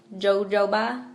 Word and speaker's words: jojoba: night I use jojoba oil which is spelt jo-jo ba jojoba it's pronounced jojoba I use that it's [ __